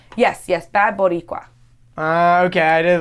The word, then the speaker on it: Boricua: And so Or is it Bad Borica? no.